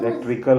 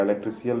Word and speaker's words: electrical: इलेक्ट्रिकल होगा, इलेक्ट्रिशियल नहीं होगा।